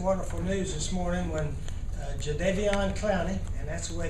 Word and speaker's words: Jadeveon: we got some wonderful news this morning when Jadeveon Clowney and that's the way it's pronounced Jadeveon sometimes did they be on but his mom